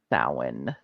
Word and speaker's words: Samhain: two people who even know it's pronounced Samhain.